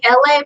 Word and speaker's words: LA: It's me, LA, pronounced like LA, like the city.